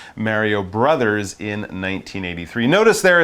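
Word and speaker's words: Mario Bros.: You wouldn't say Mario Bros, you would say Mario Brothers, but often on a sign or in a title, we shorten the word brothers to B-R-O-S.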